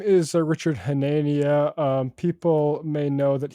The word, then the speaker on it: Hanania: mess it up uh his name is Richard hanania um people may know that he went by